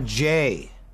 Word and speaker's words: Jay: way back in the Jay because my name rhymes with day start at the beginning